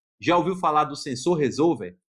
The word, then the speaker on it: resolver: Em português, é o mesmo nome que se dá para ele em inglês, só que a pronúncia não é resolver, é resolver, sensor resolver, que basicamente é um sensor que marca posição em um eixo.